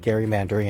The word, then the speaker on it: gerrymandering: So pronounce it right, it's called gerrymandering, and let everyone know.